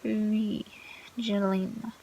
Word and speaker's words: wigilijna: Sorry, Wigilijna. Yeah, W is pronounced like feet.